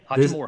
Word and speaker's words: Hachimura: Yeah, Hachimura.